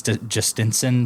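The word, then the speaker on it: Jhostynxon: He's one of our new players, but his name's Justinson, but it's spelled like JHOSTYNX, something like that, ON.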